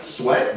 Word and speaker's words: Sweat: Yeah, his last name is Sweat. Is it pronounced Sweat? Yes, it is.